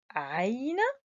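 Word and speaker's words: عين: Nous devons faire attention les enfants parce que on peut confondre la lettre Aïn avec une autre lettre Ha. Au lieu de dire A, on dit Ha. Nantabeh, il faut bien prononcer A, A, Ha, Ha.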